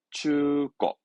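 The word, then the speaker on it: 中古: 발음은 추거.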